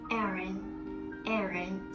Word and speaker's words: Aaron: We pronounce it as Aaron. So that will be like a short E sound.